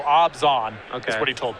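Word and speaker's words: Abzan: amazon it is um it's actually more oh more of a no sound it feels like there should be an h in there somewhere maybe i don't evan erwin told me that it's pronounced it rhymes with rob gone so obzan okay that's what he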